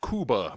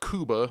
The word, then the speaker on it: Cuba: the thing where like technically it's pronounced Kuba but if I walk around talking about Cuba people will roll their